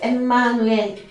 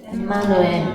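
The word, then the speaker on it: Ἐμμανουήλ: 자, 그래서 원래 발음은 엠마누엘이에요. 엠마누엘. 자, 다 같이 여기 엠마누엘. 보십시다. 엠마누엘. 임마누엘.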